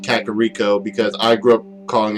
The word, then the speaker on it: Kakariko: syllables or whatever just I'm aware it's supposed to be kakariko I'm just saying kakiriko because that's how I say and I think it sounds better than kakariko and again technically it's